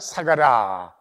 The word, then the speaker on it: 사가라: 그러므로 의인 아벨의 피로부터 성전과 제단 사이에서 너희가 죽인 바라가의 아들 사가라. 스가라의 그 예수님 당시의 발음이 사가라입니다.